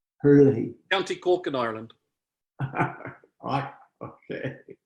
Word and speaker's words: Herlihy: Herlihy? How do you pronounce your? Perfectly. Herlihy. Herlihy.